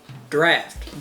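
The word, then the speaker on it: draught: know just different right I'm talking about draft d-r-a-u-g-h-t it's pronounced exactly the same as draft it is literally just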